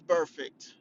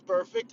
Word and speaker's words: Burfict: Now, Vontaze Burfict, who I kind of, because his last name rhymes with perfect.